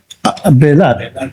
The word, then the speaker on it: Belat: Belat. Okay. Belat. Same magugulat ka 'di ba? Magugulat po sa bisaya yung pronunciation yan eh sa tagalog sa bisaya bilat yun eh kasi yung e nagiging i eh bisaya din kasi ako eh.